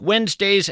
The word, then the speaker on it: Wednesday: It's not like it sounds. You want to spell it W-E-N-Z, but that, of course, would be a mistake.